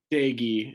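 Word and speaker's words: Doege: jarrett though those two got on is it dogie jarrett doggy the proper pronunciation there dagi is the problem okay my my mistake there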